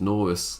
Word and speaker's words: Norris: They made it rhyme with tortoise. Yeah. My accent does not rhyme tortoise with Chuck Norris. Because it's Norris.